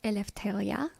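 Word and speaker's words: Ελευθερία: what does elephant mean elitheria is the greek word for freedom or liberty and it's actually pronounced elephthalia however i have anglicized it for purposes of my um youtube channel and yeah that is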